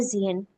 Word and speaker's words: sehen: bringt er den Tisch, wohin möchtest du später sehen? সিএন, Sehen. কারণ এস কে সেটের মতো আর সেট কেসের মতো উচ্চারণ করি আমরা।